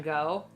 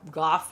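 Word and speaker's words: Gogh: I relate more to Vincent Fang go or Goff however you pronounce his last name in America we would pronounce It Go but Vincent Van go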